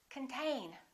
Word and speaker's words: contain: control the next one is the same this o is reduced this syllable is stressed contain repeat contain let's look